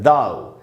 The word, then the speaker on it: thou: तो सबसे पहले तो बेसिक वर्ड्स, ये वर्ड है दाव, THOU, दाव। मैंने प्रोनाउंसिएशन सबका लिख दिया है।